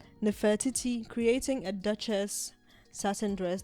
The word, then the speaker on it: Nefertiti: Anyways, um Posen tells Vogue that he envisioned something that felt almost like nefertity. How do you pronounce that word? Nefertiti.